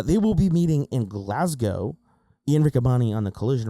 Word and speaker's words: Glasgow: Ian Rickabani on the collision recording keeps saying glass cow. No, no, no, no, no, no, no, no, no, no, no. That's G. That's a G. Glasgow. Glasgow. That's actually how you pronounce it.